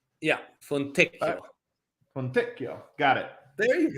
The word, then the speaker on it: Fontecchio: Yeah, Simone Fontecchio. Fontecchio? Yeah, Fontecchio.